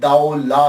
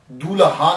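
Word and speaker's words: دولہ: ये लफ्ज प्रोनाउंसिएशन दाऊ ला है। दूल्हा नहीं है। ये सबसे पहले याद रख लीजिएगा कि ये दाऊ ला है। दाल ज़बर वा साकिन दाऊ और लाम अलिफ ला है।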